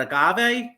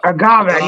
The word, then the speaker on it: agave: you say that a got what was that Agave Agave yeah newest flavor honey Agave all right and